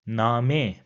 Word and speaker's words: Name: So it will have a long sound and will be pronounced as Name.